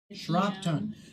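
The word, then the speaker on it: Shropton: n exactly how it exactly how it sounds shron it is on the it is on the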